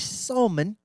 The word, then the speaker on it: Salmon: Spelled like the fish. Like pronounced like I'm British. The fish. Salmon.